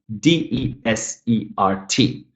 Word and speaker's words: desert: I'm stressing the first syllable.